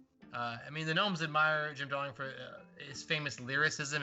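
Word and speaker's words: Gem: Jimmy and the Jets. Yeah. Jim is spelled G-E-M, like G-E-M.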